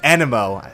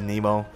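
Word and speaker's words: Anemo: kazuha as my main a nemo was animo i still call it nemo yeah i know wrong pronunciation but still uh bad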